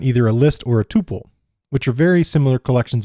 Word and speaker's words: tuple: contents can change whereas a tuple also sometimes pronounced tupple is enclosed within parentheses